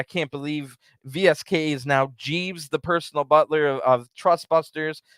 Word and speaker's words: JVSK: Then Dasha, the ring announcer, says that VSK's new name is Jeeves. Oh my gosh. It's spelled JVSK.